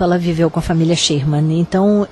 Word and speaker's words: Schurmann: É assim que pronuncia seu nome? Schurman.